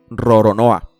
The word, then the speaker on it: Roronoa: El apellido de este personaje, pronunciado como lo harían los japoneses, es Roronoa.